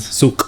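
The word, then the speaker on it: Souq: So the Q represents the letter Qaf. So it's Okay. with the it's guttural. There's K and there's Suk. So after 15 years, I finally know how to Suk.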